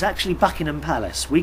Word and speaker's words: Buckingham: Buckingham Palace you can't you don't pronounce the h or at Buckingham Palace not bucking him Buckingham Palace they've been on